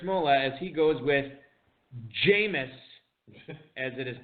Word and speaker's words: Jameis: Little bit of some volatility at quarterback here for Jared Smola as he goes with Jameis, as it is pronounced, Winston at the 12-12 tonight to back up Andrew Luck.